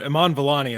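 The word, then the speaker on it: Iman Vellani: do you guys remember or know how to pronounce her name well Iman Iman volani is the actress you're referring to yeah yeah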